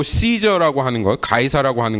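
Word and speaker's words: Caesar: 같이 이 아구스 또 씨저 라고 하는거 가이사 라고 하는 것은 그가 사용했던 호칭 입니다 1억 한국말로는 가 회사라고 번역돼 찜한 원래는 씨저 이렇게 발음을 하죠 근데 나중에 그가 얼마나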